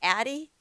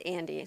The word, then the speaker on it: Addie: And I think I might have just said your name wrong. Is it Addie? Yeah. Okay, Addie. I said Andy, so my apologies.